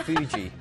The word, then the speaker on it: Fuji: Is it Fuji? Yeah. Not Fiji, but Fuji.